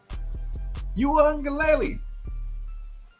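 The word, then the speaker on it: Uiagalelei: Uangaleli.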